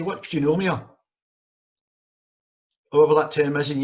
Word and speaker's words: pneumonia: And instead of pneumonia, they said pneumonia. I can understand why, and if you've ever seen the spelling of the word pneumonia, you'll know why, because it begins with a PN.